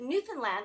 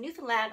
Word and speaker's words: Newfoundland: I can't reveal that Kathy took it to Newfoundland the province in Newfoundland on the eastern coast of Canada and if